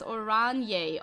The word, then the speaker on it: Oranje: Oranje is Oranje.